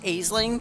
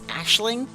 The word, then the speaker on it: Aisling: I always call it Aisling, but like its true pronunciation is Ashling.